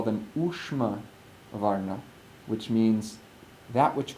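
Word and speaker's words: ūṣma: Ushma is spelled sha with the dot underneath, so it's a cerebral sha with the dot underneath, and then ma, U-S with a dot M-A.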